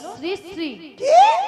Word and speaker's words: শ্রীশ্রী: আরে মাসি ওনার নাম ছিড়ি নয় বল শ্রীশ্রী বল শ্রীশ্রী আমি কি সিড়ি